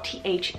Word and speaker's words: Theodoric: on the boy side we have theodoric spell t-h-e-o-d-o-r-i-c theodoric so powerful a great alternative to Theodore